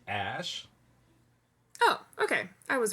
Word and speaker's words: Æ: else is saying so that a E is pronounced ash oh okay I was wrong but close and